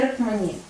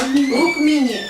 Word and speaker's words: Rukmini: И в этой инкарнации ее звали Рукмани. Как правильно произносится? Рукмини.